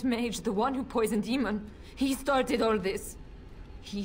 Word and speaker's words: Eamon: Or Eamon, as they call him in the game, but it's Eamon. If you're going to use a Celtic name, at least pronounce it properly.